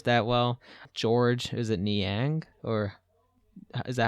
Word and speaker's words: Niang: don't play this that well george is it niang or is that how you say it george and yang yeah yeah that dude normally scores like five